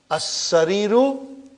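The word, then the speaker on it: السرير: As-sariru, alas-sariri. See, brother Farooq, how I am pronouncing?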